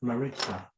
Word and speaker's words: Maritza: Yeah, is that how you say it, Maritza? Yeah, Maritza. Maritza. I bet they're supposed to be rolling that R.